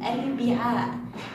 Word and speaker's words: الأربعاء: والفضني، أنا لام قمرية، اكتبني والفضني، تلفظ، يخرج صوتها، تلفظ، تلفظ، أي أنه عندما أقول أربعة، لاحظوا الأربعاء، الأربعاء، تلفظ، يخرج صوتها، يخرج صوت اللام، الأربعاء.